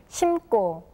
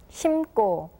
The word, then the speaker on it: 심고: 심고, 심고, 심다, 심다, 심지, 심지. All of the first sounds for the suffixes are read as tension sounds.